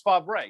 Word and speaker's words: Favre: And the third thing to you is, how the F does he get Brett Favre out of, I know this is the oft-asked question, out of Favre? It's Favre.